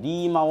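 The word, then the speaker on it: 狸猫: という言葉とたぬき猫と書いてこれリーマって言うんですけどが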